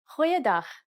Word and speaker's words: Goeiedag: G. Try pronouncing it from the back of your throat.